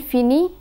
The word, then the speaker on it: finit: We find that je finis, tu finis, il finit, and elle finit have the same pronunciation. The final letters are not pronounced.